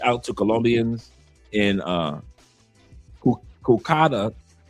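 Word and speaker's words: Cúcuta: He said, "Reach out to Colonians in uh Kukada." I hope I pronounced that right. Kouta. Uh I pronounced it incorrectly. C U C U T A Kakuta.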